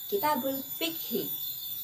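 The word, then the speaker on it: كتاب الفقه: Buku fikih dalam bahasa Arab diucapkan Kitabul Fikhi.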